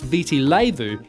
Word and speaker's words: Viti Levu: Marina the largest island visi levo pronounced Viti Levu is home to 70%